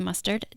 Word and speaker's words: Mustard: again for having me my name is mustard just like he put on a hot dog so everybody wants to